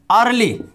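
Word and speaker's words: early: कोई भी शब्द हो ई के तुरंत बाद ए आर हो तो वहां पर ई साइलेंट होता है।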